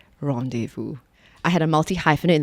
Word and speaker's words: rendezvous: much or like rendezvous some people go like rendezvous and then after a while you forget that the real way to pronounce it is rendezvous i had a multi-hyphenate